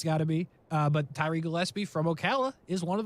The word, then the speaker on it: Gillespie: But shout out to Tyree Gillespie.